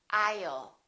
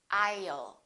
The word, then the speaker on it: I'll: common the word will I will sounds like I'll repeat after me aisle don't say I'll put